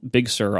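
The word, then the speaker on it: Big Sur: to try it again equal Accent on both syllables I'm going to say Big Sir Big Sir big sir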